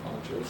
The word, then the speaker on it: Panchos: Ponchos or Panchos, it's spelled P-A-N, I guess it's pronounced Ponchos.